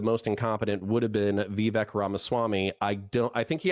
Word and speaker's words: Vivek: I will say though, how can none of you guys pronounce his fucking name, for the love of God? Vivek Ramaswamy.